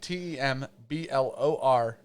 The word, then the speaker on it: Temblor: You're going to ask the person that can't pronounce doers? Temblor Brewing. At Tem. Okay, I'm going to just spell real quick. At TEMBLOR Brewing.